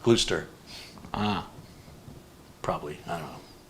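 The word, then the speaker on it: Gloucester: joins us from see now that looks like it's a glossestershire but how much you want to bet it's pronounced like gluester ah probably i don't know glooster sure like wish this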